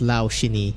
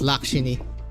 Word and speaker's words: Lakshini: No way it's pronounced Laushini. You're trolling. It's Lakshini. That's what I remember from the trailer.